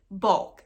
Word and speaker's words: BULQ: Cozy Threads, and also the company Bulk, but that's spelled BULQ.